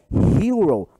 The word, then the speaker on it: hero: Então, se o H é pronunciado, eu vou usar o artigo definido, não, o indefinido. A, eu vou dizer a hero e não an hero.